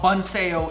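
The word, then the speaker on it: Bánh xèo: All right, so the first thing about Bun Sale is pronouncing the name Bun Sale because it starts X E O.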